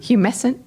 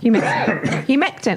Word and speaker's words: humectant: Humescent. Oh. Humectant. Oh, there's T in there.